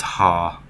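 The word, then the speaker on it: は: It goes basically the same way. This is ha, but it's pronounced wa because it's a particle.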